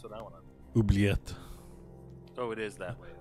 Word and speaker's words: oubliette: It's pronounced comme oubliette. Is it quicker to go the right up here? Oh, yeah, it is. Yeah, it's one of those words that pronounces pretty much the same way in French and English.